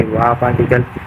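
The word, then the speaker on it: は: Part one में हम सीखेंगे वाकल। पार्ट टू में सीखेंगे हम पर्सनल प्रोनाउंसिएशनंस।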